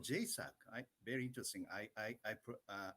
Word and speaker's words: JSAC: thought i should say j s a c it's very uh difficult to pronounce but jaisak is very friendly sound so uh and also